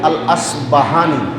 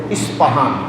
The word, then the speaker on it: ইসপাহান: প্রসিদ্ধ শহর আছে যে শহরকে আরবিতে বলা হয় আল আসবাহানী যার বাংলা উচ্চারণ হল ইসপাহান।